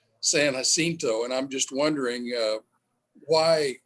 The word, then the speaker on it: San Jacinto: Everyone here calls it San Jacinto, where really it'd be San Jacinto, and I'm just wondering why that is.